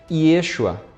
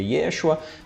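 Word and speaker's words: ישוע: seu nome em hebraico Yeshua algum eu me acho a né a outros Yeshua a pronúncia comporta as duas opções A bem da Verdade né Alguns vão afirmar que o mais correto seria Ieshuá outros vão falar que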